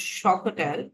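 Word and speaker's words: xocolatl: atic Emperor monuma and the Astic word for it is zotel pronounced shotel evoled into the English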